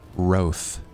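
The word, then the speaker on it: Wroathe: Her name is Roth. W R O A T H E. Roth.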